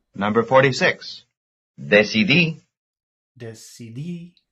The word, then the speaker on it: decidí: Decidí. Decidí. That's the last syllable.